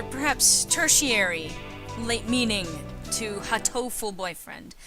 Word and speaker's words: Hatoful: So there's Hato, which refers to dove or pigeon, and then Hato as in heart, as in the English word for heart translated into sort of a Japanese pronunciation, but it's also hurt. Hato as in hurt.